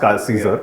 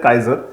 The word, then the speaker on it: Caesar: Caesar because that's how I first used to pronounce Caesar because CA I said Kaiser and they said no no it's Caesar but